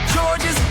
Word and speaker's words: Georges: the earlier times, which you're not supposed to pronounce the S. It's silent. It's just how you know he's French.